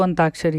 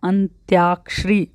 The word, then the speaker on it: अंत्याक्षरी: जैसे एक कॉमन सा वर्ड है अंताक्षरी, हम बोलते उसको अंताक्षरी है, लेकिन जो उसका सही प्रोनाउंसिएशन है वो क्या है अंत्याक्षरी, यानी अ आधा न आधा त या क्षरी, अंत्याक्षरी, ये इसका राइट वर्ड है।